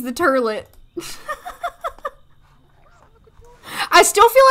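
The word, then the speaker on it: Terlit: I prefer the T-E-R-L-I-T spelling, but you can also spell it T-U-R-L-E-T. You can spell it either way. It's turlet either way.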